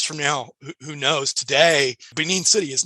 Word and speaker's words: Benin: reading about I don't know a lot about Benin city is that how to pronounce it yeah yeah but it came across